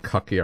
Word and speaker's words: Cucky: It's Cucky. Not Clucky, nope. I'll go find the artwork for it.